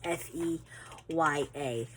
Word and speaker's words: Feia: It's not spelled that way, but that's literally how it's pronounced. It's Feya. So I think what I'll do is, oh, right here, yes, Feia Candle and Company.